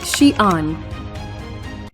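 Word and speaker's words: Xi'an: Shian speak Mandarin Chinese the city's name is pronounced Shian history cion was once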